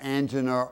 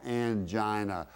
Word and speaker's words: angina: well let's talk about angena or angina both of those are correct pronunciations so don't worry about